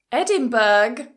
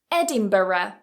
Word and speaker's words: Edinburgh: how about this word if you said Edinburgh nope Edinburgh Edinburgh or you've guessed it you can cut a syllable and you can say Edinburgh so Edinburgh four syllables Edinburgh or three syllables Edinburgh Edinburgh the next word